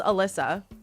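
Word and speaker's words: Elisa: So, it's Well, my name's Alyssa, but it's spelled E L I S A.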